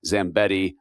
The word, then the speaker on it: Zambetti: And I realized, funny, sitting there, if you listen to the podcast, that Zambetti rhymes with Yeti.